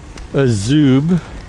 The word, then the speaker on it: Azub: type wheel, and of course, it's, you know, Azub, which I found out is the proper pronunciation.